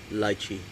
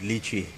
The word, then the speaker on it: lychee: It's my favorite fruit, lychee. South Africans watching this, especially my brother, they're gonna be ripped because we pronounce it lychee in South Africa, not lychee.